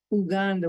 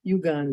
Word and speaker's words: Uganda: And Americans always say Uganda, but they say Uganda. So I always correct people and they say, what do you mean? Uhuru. I thought it was Uhuru. No, it's ooh. All the U's are pronounced like ooh.